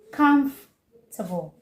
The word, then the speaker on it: comfortable: Comfortable. Not comfortable. Comfort. No. Comfortable. No. Comfortable. Comfortable. Three syllable. And not comfortable. Making it four syllables.